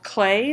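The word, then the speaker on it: Klee: is a artwork by Paul clay that's how you pronounce this one that when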